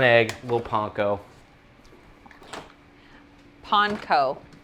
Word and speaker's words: panko: Panko, which apparently is the correct way to say it.